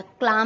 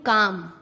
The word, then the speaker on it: calm: एम से पहले CALM काम, बाम, पाम। एल साइलेंट होता है, क्लाम नहीं, काम, बाम, पाम।